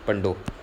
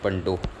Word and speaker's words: Pandoh: इट is very important friends, पंडो, PANDOH, पंडो, ठीक है।